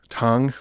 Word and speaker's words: Tang: of the seventh century tong apparently tongue okay i looked that one up and some people were pronouncing it tang but anyway apparently at